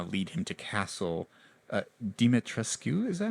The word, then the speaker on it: Dimitrescu: And there's obviously these creatures out here that kind of lead him to Castle Dimitrescu.